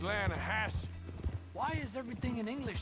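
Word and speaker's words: Lannahechee: wrote down to the Lana Hetchy River I caught some beautiful steelhead trout mainly Lana no no no the Lana hatch runs right near here yeah but it's pronounced Lana Hass why is everything in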